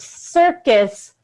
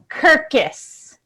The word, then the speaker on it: circus: You pronounced circus, kirkus.